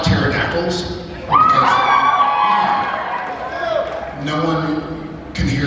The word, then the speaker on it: pterodactyl: I like pterodactyls because no one can hear them go to the bathroom because the pee is silent.